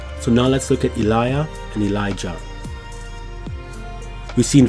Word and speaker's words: Elijah: If there is a double I or double I, the second I has the J or the J sound. So for example, when we look at words or names like Elijah in the Gothic, the second I here would carry a J sound.